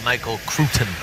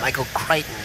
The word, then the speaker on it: Michael Crichton: was like a science book by that guy michael crewton michael crichton what happened you say crichton i say crewton no no it's not it's not tomato tomato situation it's a it's a proper name michael crichton that's how you say his name well it's